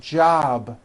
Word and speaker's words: job: be voice for example job ends in a bee which is a voiced sound job it's not jump with an unvoiced p keep the voicing going throughout the whole word job with a voiced be ending same thing with robe